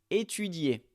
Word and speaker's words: étudier: Étudier, étudier. Ici, il y a souvent le cas d'étudiants qui oublient de prononcer le I dans la conjugaison.